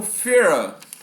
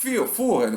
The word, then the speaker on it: Führer: E olha só, ele vai ser reconhecido na Alemanha como Führer, ou Führer, como se escreve Führer normal, ou seja, o líder.